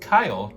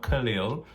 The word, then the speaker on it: Kyle: It was basically said, my name is pronounced Kyle, not Khalil, so I'm going to say that.